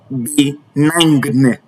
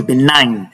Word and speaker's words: benign: So you cannot say benign. No, it is benign. So the G there is silent.